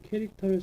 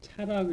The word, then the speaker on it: char: CHAR 이거를 차라고 읽으면 안 돼요. 무식한 거예요, 그거. 이거를 차 그렇게 읽으면 아주 무식한 거니까 여러분 절대 그렇게 읽으면 안 돼요. 뭐라고 있냐? 얘는 캐릭터라고 있습니다. 캐릭터.